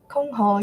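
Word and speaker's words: 箜篌: How you pronounce Kongho? Kongho, yes.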